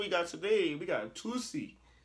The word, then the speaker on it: Toosii: We got Tusi. Tusi. I believe that's how you pronounce his name.